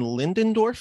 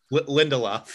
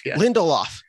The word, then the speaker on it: Lindelof: week where it was I believe is Damon lindendorf is how you pronounce his name Lindelof Lindelof you broke that story I know you've broken